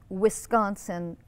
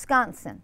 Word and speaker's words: Wisconsin: which is not pronounced wisconsin by the people that live there it's pronounced wisconsin wisconsin everything's kind of through your nose and nobody really opens their mouths and everybody kind of